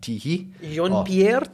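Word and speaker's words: Tiéhi: I'm like, right, okay, but I've obviously since I've been told it's pronounced Teehee.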